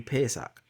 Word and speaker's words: Pesach: So ha, pa, sa, cha. Those are the letters. What the letters are pronounced if you're saying A, B, C, D, E, F, G. Ha, pa, sa, cha. Ha, Pesach.